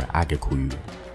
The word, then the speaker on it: Agikuyu: Kikuyu is actually the Swahili pronunciation of the more correct term Gikuyu or Agikuyu, as they call themselves.